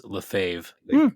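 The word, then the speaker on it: Lefebvre: There's a f a semi famous bass player whose last name is spelled like that and it's Lefave.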